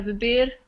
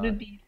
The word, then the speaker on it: beber: Okay, so queres tomar algo para beber ou comer? This is how you pronounce it. ¿Quieres tomar algo para beber o comer? Yeah, beber. Remember, not bebir. Beber. Beber.